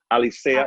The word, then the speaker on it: Alicea: started the alicia which is the spanish is not really english just alicia is pronounced and i started my